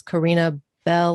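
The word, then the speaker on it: Corinna Bell: butcher it a bit it's karina bell like to ring a bell well see if i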